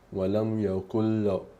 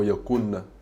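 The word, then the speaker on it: ولم يكن: Sentite, ora sentite, adesso ve lo pronuncio nella maniera corretta in cui deve essere pronunciata. Walam yakul. Sentite che non dico yakun, non faccio sentire, non faccio sentire lo skun del nun, ma è come se non ci fosse, walam yakul, è proprio come se fosse, se lo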